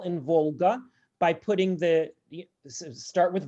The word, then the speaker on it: Volga: something like actually so yeah as opposed to volga and you know you might just want to